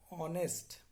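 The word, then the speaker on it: honest: ডিজ অর্থ হচ্ছে নট বা অপোজিট, ডিজ দ্বারা অপোজিট শব্দ তৈরি করা হয়, যেমন অনেস্ট। এইখানে এইচ এর উচ্চারণটা হয় না, উচ্চারণটা অনেস্ট।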